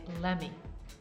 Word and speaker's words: let me: very important pronunciation tip when we say let me introduce my friend often we say lemme let me introduce my